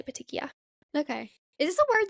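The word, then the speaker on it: petechiae: Patikia i a e or petik. We all say petikia.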